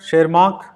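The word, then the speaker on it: Tschermak: Student शेरमार्क, इनको बोलेंगे शेरमार्क, T silent है।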